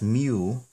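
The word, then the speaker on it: μ: and then this litter this letter that looks like the letter M it's pronounced as mu and it's the the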